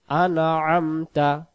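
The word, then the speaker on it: أنعمت: আ এখানেও আ এখানেও গলাটা চেপে পড়বো আইন অক্ষর হলকের মধ্য থেকে একটু চেপে পড়তে আমরা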